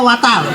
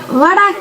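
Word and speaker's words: water: ওয়াটার না, এটা ওয়াটার। ওয়াটার। জি স্যার। জিহ্বার আগে সামনের দুই দাঁতের সাথে লাগবে। ওয়াটার ওয়াটার। ওয়াডা।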